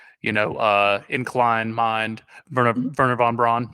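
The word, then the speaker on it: Wernher von Braun: i can say yeah anytime you see a w it's pronounced as a v yeah yeah exactly in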